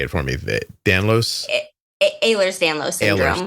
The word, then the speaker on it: Ehlers-Danlos: Ehlers-Danlos syndrome. Ehlers-Danlos.